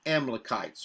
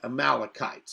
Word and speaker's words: Amalekites: is the sin of the amalekites or the amalekites however you want to say it i've looked this up it can be pronounced both ways he says they have